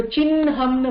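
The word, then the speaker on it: चिह्नम्: ஹ போட்டு ந போட்டு எங்கயாவது பார்த்தீங்கன்னா, இப்ப சின்ஹம்னு வருதுல்ல, அதுல முதல்ல ந ப்ரொனவுன்ஸ் பண்ணணும், சின் ஹம் அப்படின்னு.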